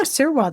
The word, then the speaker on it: Sirois: Am I pronouncing your name correctly, by the way? Yeah, Sirois, that's perfect, yeah.